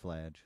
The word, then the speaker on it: Fladge: It's pronounced Fladge.